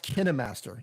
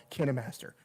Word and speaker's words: KineMaster: how it's pronounced yeah it's pronounced kinemaster you see this right here yeah so the guy yeah so he yeah it's kinemaster it's official i actually i actually have them at the kinemaster booth on video in one of my kinemaster videos i said okay let's lay this to rest how do you pronounce it and he was like i work for a company called can a master okay i actually i